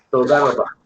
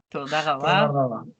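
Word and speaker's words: תודה רבה: Toda rabá. Toda rabá.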